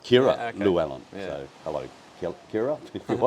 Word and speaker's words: Llywelyn: So the double L in Welsh is pronounced as Llywelyn. Llywelyn.